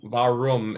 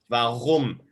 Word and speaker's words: warum: Yes, that is a hard one because it's not warum, it's warum. Warum, the R sound is pronounced with a sound the back of your throat that sounds like rum.